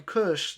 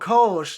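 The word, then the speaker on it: Kölsch: I'm like, a Kush. They're like, we don't have that. And I'm like, you're Kolsch. They're like, oh, Kolsch, yeah. And I'm like, it's also a German beer. You're saying it wrong.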